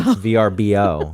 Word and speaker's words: VRBO: which I hate ver stop stop saying verbo VRBO but that's I the